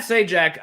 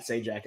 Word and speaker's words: Sajak: Like, sorry, Pat Sajak. I now know how to say it. I was really confused with Carrie there. Thank you for saying Pat Sajak.